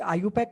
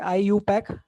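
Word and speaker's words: IUPAC: होता है कि एक आईयू पैक करके ऑर्गेनाइजेशन है international union of pure and applied chemistry इसको प्रोनाउंस करते है आईयू पैक okay आई यू पैक ऐसे प्रोनाउंस करते हैं इसको तो एक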